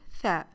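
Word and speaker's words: ث: The letter tha is pronounced like the th in the word three.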